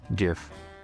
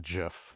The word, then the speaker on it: GIF: It's a play on the peanut butter Jif as choosy moms choose GIF.